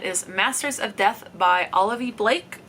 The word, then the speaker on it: Olivie Blake: masters of death by olivie Blake at least I've heard that's how it's said I could be wrong